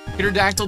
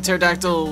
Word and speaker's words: pterodactyl: The P is silent.